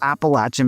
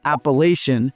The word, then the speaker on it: Appalachian: of beaches to the east and the beautiful Appalachin Mountains to the west. And yes, they say appalachin, not Appalachian, which reminds me that I want to make